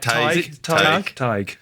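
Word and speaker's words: Tadhg: I think it's Tig. The D, forget about the D.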